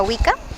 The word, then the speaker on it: Wicca: de vista de una Wicca o de una Wiccana, ¿cómo se pronuncia?